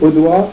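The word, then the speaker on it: Audoit: Et Audouard, c'est devenu Audois, O-D-O-I-T. C'est la même prononciation, mais c'est pas la même graphie.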